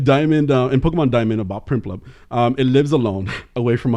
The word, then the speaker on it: Prinplup: It becomes Primplup. Primplup. Primplup. So many P's. So many. And then an RINPL is a really weird Primplup. It's a really weird way to say that. So it's spelled PRINPLUP.